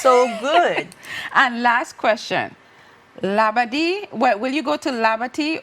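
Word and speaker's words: Labadee: And last question, labadi.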